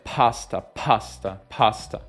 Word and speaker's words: pasta: Lo stesso per pasta è pasta.